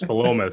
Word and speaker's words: Philomath: We had a bet in whether it was Philomath or some other pronunciation. You looked at us with this look and said, "You're all wrong. It's like pronounced differently." So it's Philomath.